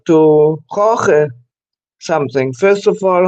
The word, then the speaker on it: Jorge: Okay, but originally it's pronounced Jorge, no? yes, you're that's as close as you can get to the original.